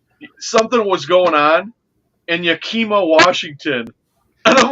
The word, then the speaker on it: Yakima: That a lady on Newsmax this morning, she mispronounced. She goes, something was going on in Yakima, Washington. And I'm like, Yakima?